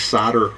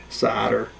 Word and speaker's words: solder: over to solder wick i know technically it's solder s-o-l-d-e-r but check this out s-o-d-e-r this is solder wick i guess that's kind of the uh the butchered american pronunciation sadder but i guess technically it should be solder so i put this